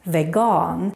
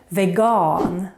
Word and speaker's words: vegan: the word for that the Swedish word for vegan is veon is actually written the same but with a very different pronunciation veon Y veon and if